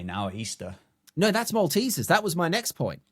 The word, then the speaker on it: Maltesers: There's no A in Maltesers, so it should be pronounced Maltesers.